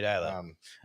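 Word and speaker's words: Deila: Ronnie Dyla. You regressed and were saying Dela earlier.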